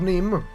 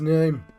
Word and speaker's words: Nema: is i pronounce that it's not neem this is name okay helps out